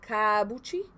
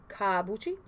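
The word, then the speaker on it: kaabuchi: It's called kabuchi. I read it like this because it's spelled K-A-A-B-U-C-H-I, kabuchi. Also, I found it as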